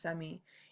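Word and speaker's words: zemí: It's pronounced semi.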